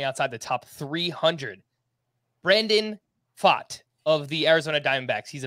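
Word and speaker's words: Pfaadt: Brandon fought of the Arizona Diamondbacks he's a pitching Prospect and that's spelled b-f-a-a-d-t it's a very he said B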